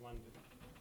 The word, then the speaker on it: Loden: Spelled Loden, but it's pronounced London.